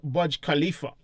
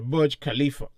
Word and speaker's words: Burj Khalifa: is it Dubai again called the budge budge Khalifa I thought we would pronounce it right now the Burj Khalifa right up in a